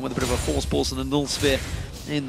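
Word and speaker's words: Voorspoels: to pronounce his surname, just say Force Pulse. Say it like you would say Cassing with a bit of a lisp. With his E. So it's Mitch, Crepo, Force Pulse.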